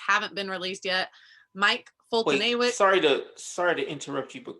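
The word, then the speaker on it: Foltynewicz: How do you say that? Fultonawicz. Yeah, like Fedorovich.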